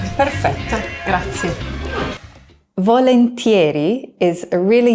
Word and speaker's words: perfetto: Keep in mind that in the Italian version of this word, there's no cuh sound. So it's not perfetto, but perfetto, with a nice long double T. Perfetto, grazie.